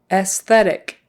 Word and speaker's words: aesthetic: of this athetic athetic so you do pronounce the S after the E and it's an S sound not a z s then ttic esthetic